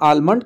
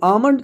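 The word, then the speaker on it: almond: child मतलब बच्चा जंगली एम से पहले लाने पर भी साइलेंट होता है एल जैसे अमन कम बम कम यह ध्यान दीजिए अमन यानी बादाम इसको कई लोग इसका तेल kharewat कहते हैं आलमंड का तेल दे दीजिए अरे नहीं भाई आमंड का तेल और देखिए अब से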